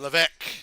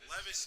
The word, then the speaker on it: Levesque: The first ever Paul Levesque chant.